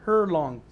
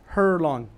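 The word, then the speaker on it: Herlong: Howard was born in a small town in Northern California called Hurlong. Did I pronounce that right? Yes, sir, you did. And it's spelled just how it sounds. Is that correct? Hurlong.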